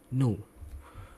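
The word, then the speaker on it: ν: sini itu dideskripsikan oleh ha kali NU Oke ini bacanya bukan V lebihin tunggu ya ini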